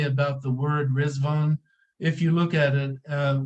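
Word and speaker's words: Riḍván: really say it like red van there's a DOT under the D and in the transliteration system it's pronounced as a z so from the Arabic pronunciation they say rizwan but the Persians say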